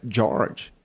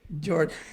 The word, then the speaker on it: Jorge: Aqui no Brasil o pessoal falava Jorge. E lá fora é George. George.